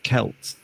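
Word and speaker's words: Celts: Why in Scotland we called a football club or soccer club that's spelled exactly the same Celtic and yet we would describe the the Scots as Kelts.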